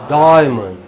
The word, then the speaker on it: diamond: You know, die is very long. It's diamond. Diamond. Diamond. It's not diamond. It is diamond.